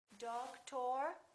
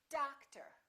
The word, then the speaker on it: doctor: clock we say o'clock how about this one do we say dog tour or doctor no we don't we stress the first syllable we reduce the second therefore these two o's are also going to be completely different doctor how about this one